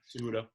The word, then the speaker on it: Cejudo: Cejudo.